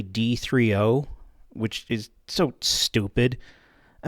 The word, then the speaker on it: D3O: wrong the whole time this is not called D30 it's actually d3o which is so stupid